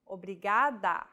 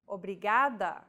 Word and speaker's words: obrigada: is pronouncing this sound think of the quick tapping motion your tongue makes as it strikes the top gum ridge in words like ladder or butter altogether it's obrigado obrigada okay one last time